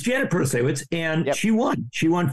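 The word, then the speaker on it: Protasiewicz: around something because I wasn't sure how to pronounce it. Yep. But it's Janet Protasewicz, and she won.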